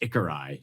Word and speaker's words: Ikari: it's- It's spelled Ikari, but I've heard it pronounced Ikarai too. depends where you're from, I guess.